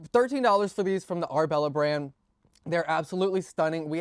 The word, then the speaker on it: Ourbella: These are from the brand called Arbella. And I'll put the name right here if you don't know how to spell it, but it's Arbella.